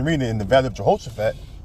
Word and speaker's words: Jehoshaphat: in the valley of Jehoshaphat all right or yahawah shapat all right is how you say in the ancient Pano Hebrew so he can judge